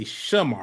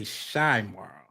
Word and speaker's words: Chimarra: It's Chimarra. It's a A. It's not an I. Okay, boom. Yes. It's shy, like Chicago. But it's Sha. You say Sha. You don't say shy. You say Shamara. Well, yes, it is Sha. Okay. I say Shymara, but it's Shamara. Right.